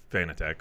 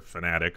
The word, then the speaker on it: Fnatic: never never actually owned fan attack or fanatic however you want to pronounce their name I might say you said it wrong all us we about to correct you last week well no no no because funding fnatic has said that both pronunciations are correct the company has says